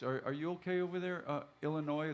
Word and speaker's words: Illinois: Are you okay over there, Illinois? The S is silent.